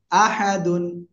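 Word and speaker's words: أَحَدٌ: হাফেশু কুলহু আল্লাহু তারপরে হামজা জবর আ হা জবর হা আহা ডাল দুই পেশ দুন আহাদুন এখানে আমরা যদি থেমে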